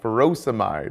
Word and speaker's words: furosemide: Potassium wasting ends in ey like ferosomide or hydrochloroioide. Both rhyme with dried.